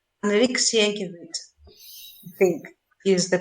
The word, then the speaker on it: Sienkiewicz: This a book called Quo Vadis, by, I will butcher the name, Enrique Sienkiewicz, I think is the pronunciation.